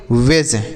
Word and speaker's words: wedge: WEDGE तो इसे हम क्या पढ़ेंगे? वेज। WEDGE वेज। यहाँ पर भी डी साइलेंट है तो इसे वेज पढ़ेंगे।